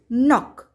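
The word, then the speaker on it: knock: هنا لدينا كلمات بدأت بحرف الك ثم حرف الان، إذن حرف الك لا يلفظ فقط يكتب وتلفظ ن ن، مثل كلمة نوب نوب وتعني مقبض الباب، نوك نوك وتعني يطرق الباب، ني ني وتعني الركبة، نايف نايف وتعني السكين.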